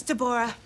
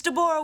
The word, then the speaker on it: Deborah: It's Deborah. Isn't that what I said? No, you said Deborah with 2 syllables. It's Deborah with 3 syllables. Emphasis on the aura.